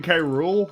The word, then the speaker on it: K. Rool: Yeah, I mean, King K. Rool. Yeah, he's a real piece of work. Oh, Hey, speaking of, that kind of sounds like the word cruel.